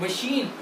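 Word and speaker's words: machine: ठीक है, मशीन। अब देखिए ये प्रोनाउंस CH है, आवाज इसकी आ रही है शाह। मशीन।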